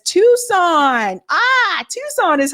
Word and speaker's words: Tucson: about that recently uh eler says Tucson ah Tucson is how you say it Sabie I don't